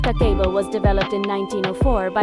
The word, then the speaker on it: Kakeibo: Kakebo, pronounced kako, was developed in 1904 by Hanimuk, Japan's first female journalist and later a publisher of a women's magazine.